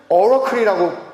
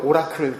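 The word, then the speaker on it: oracle: 번역을 했지만 조금 더 사전을 찾아보면 어러클이라고 번역을 해놨습니다. 어러클. 발음이 뭐 이상해서 여러분들이 못 알아들을지 모르지만 O-R-A-C-A-L. 한국 분들은 오라클을 그러죠.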